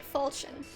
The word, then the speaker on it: falchion: That's how you say it, falchion.